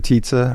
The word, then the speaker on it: Tizza: Mr. Tizza, rhymes with pizza.